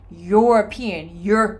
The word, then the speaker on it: European: I don't say European or European. No, I say European.